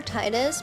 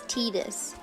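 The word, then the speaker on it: Tidus: It's Tetus cuz it's based on the Okinawan word for sun if I recall correctly.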